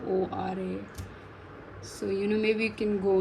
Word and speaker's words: Quora: Maybe I've started answering questions on Quora, however you pronounce it. It's Quora.